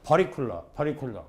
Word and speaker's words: particular: 어디선가 우리 학생들이 트 발음을 르라고 바꾼다. 그래야 발음이 부드럽게 나오고 자연스럽게 나온다. 좋습니다. 그러니까 트가 아니고 르, 워터가 아니고 워러 이런 거. 좋은데 말이야. 아무 때나 그런 줄 알고 particular 큰일 납니다.